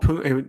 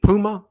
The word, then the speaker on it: Puma: But with Claude Pum, is it Puma? Isn't that right? Isn't the M silent like the shoes? Yes, let me say it correctly.